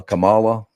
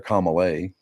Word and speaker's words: Kamala: I got notice I I say her name properly unlike 99% of people that is nice uh Kamala Kamal I heard somebody calling her calay Kay Harris was it I think that's the French way yeah kamay yeah you